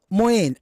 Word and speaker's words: Mouin: Moyen, am I pronouncing your name right? You're pronouncing everything right.